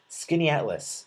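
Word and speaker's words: Skaneateles: be there uh um oh skinny atlas it's pronounced thank you skinny atlas according to the chatroom thank you thank you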